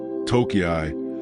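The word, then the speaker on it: 東京: The characters that composed Tokyo can be pronounced in more than one way in Japanese. And for a time, an alternative reading, Toki, was used alongside what became the standard pronunciation.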